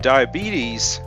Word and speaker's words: diabetes: a sharp divide likewise the long e at the end of the Greek source of diabetes resulted in a final ease sound but many people especially in the US have reduced it to it but if to try